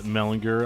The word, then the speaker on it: Mellinger: the pleasure this evening of talking with Mellinger of Zao how are you doing tonight I am awesome and thank you for pronouncing my name right but uh speaking of